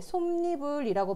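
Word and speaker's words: 솜이불: 그러면 학생일 같은 경우에는 솜 이불이 실제로 발음될 때 솜니불이라고 발음 되거든요 그러면 이때 나타나는 현상은이 니은이 추가된 니은 첨가 현상입니다 니은 첨가는 말 그대로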